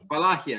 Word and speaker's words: Wallachia: How do you pronounce it? Wallachia, yes.